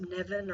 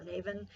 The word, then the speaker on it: Nemhain: It's spelled Nemhain, and I believe it's pronounced Nevin or Navin, and that is the Fury.